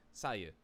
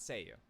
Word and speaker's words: SAYU: the pronunciation of it i think it's sayu so that's correct it's not say you i believe that is the correct answer all right so let's